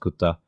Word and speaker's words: QTTA: ramen called Kuta, and it's spelled QTTA. It's a little bit of a pun because it sounds like the Japanese word Kuta, which means I ate it, or I ate it, we ate it, or something like that. Yeah. So it's a bit of a pun. It's pronounced Kuta.